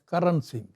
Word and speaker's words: Karan Singh: So this connection, the name Karna Singh is, they pronounce it as Karan Singh.